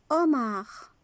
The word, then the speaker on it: homard: Le homard. Le homard. C'est un crustacé. Le hérisson. Donc on ne prononce pas H.